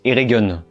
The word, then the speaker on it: Eregion: Alors, il me semble que ça se prononce Eregion. Vu qu'on a commencé la saison en prononçant Région, on va finir comme ça.